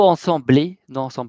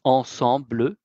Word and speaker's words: ensemble: Je suis ensemble avec ma mamie. Voilà. Je suis ensemble, non ensemblé, c'est ensemble.